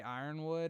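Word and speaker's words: Yronwood: I say it like Yornwood because there's a Y. Some people just say Ironwood.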